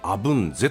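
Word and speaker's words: 鎧瀬: ですね、鎧に背と書いてアブンゼと読むんですね。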